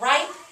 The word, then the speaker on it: ripe: this is very good val consonant e that means i don't hear the e and it makes the long vowel eye so we have right but i want to